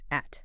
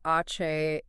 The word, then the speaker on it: Aceh: And by the way, it's pronounced Aceh, not at.